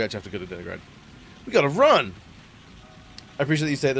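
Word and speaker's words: Deningrad: Okay, so we actually have to go to Denigrad.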